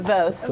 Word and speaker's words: Voust: Vost like a piece of toast.